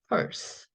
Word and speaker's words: purse: S 있네요. 혼자 있고 저 E는 소리가 안 나니까 없어지고. 자, 그래서 앞에 있는 퍼 똑같죠? 피읍의 얼 발음인 거죠. 얼 발음. 펄. S 혼자 있다? 기본 걸로 간다. purse. 자, 이렇게 읽으면 되고요.